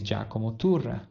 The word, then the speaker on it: Giacomo Turra: YouTubers didn't do right, is to pronounce his name correctly. I'm also Italian, so his name is Jako Motor in case you didn't know.